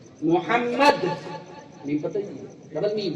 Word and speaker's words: محمد: حمد سے آپ ہا بھی نکال دیجئے تو محمد کا اگر آپ تلفظ دیکھیں، ملفوظی اعتبار سے دیکھیں اسے، تو ملفوظی اعتبار سے اس میں ڈبل میم ہے. محمد میم پتہ ہی، ڈبل میم ہے، ڈبل میم ہے.